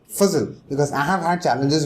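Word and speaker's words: Fazal: z a l and it's pronounced fuzzle because i have had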